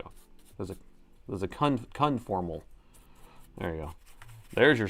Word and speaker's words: conformal: Why do I keep keep wanting to pronounce it wrong? Anyway, the coding I keep wanting to say for modal.